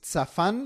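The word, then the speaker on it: צפן: Te lo repito, Ja a encubierto, de una raíz tzafán, igual con TS al principio, tzafán, que significa esconder, tapar, reservar, proteger.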